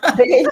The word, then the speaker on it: Daly: Daly Tabef. Daly Tabef. Dê-lhe um tabefe. Daly Tabef. É Daly. Daly. Não força muito o I, não. Daly. É mudo, né? Daly. Daly. Daly. O mudo. O I mudo.